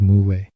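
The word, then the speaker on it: 無: and philosophy of life in Korean stomachless and Wu are homonyms both pronounced as Mu this clever word play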